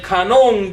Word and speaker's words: canon: que se llama el canon de las Escrituras. Ahora la palabra canon, discúlpame. Un gringo que no sabe hablar español ni pronunciarlo. Canon, con acento sobre la A, ¿no?